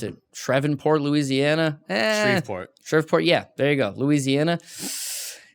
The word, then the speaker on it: Shreveport: She's training in I'm going to mispronounce it. Shreveport, Louisiana. Shreveport.